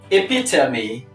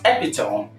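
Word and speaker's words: epitome: this word the first is epitomy not epitone number two this is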